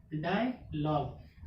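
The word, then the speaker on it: dialogue: तो क्या बचा, DIALAGE, डायलॉग। अब इसमें देखिए एक चीज और साइलेंट हो, क्या है, ई के रूल्स में क्या है, जब किसी भी वर्ड के लास्ट में ई लेटर्स आता है तो ई क्या हो जाएगा, साइलेंट होगा। यहाँ पे दो लेटर साइलेंट हो, कौन कौन से, यू और ई, यानी कि कितने का हम लोग प्रोनाउंसिएशन किए, DIALAG, इतने के डायलॉग।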